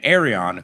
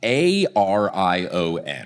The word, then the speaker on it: Arion: I've been saying Arion because if I say Aryan, it sounds a little too much like so I've been really hitting that O in Arion.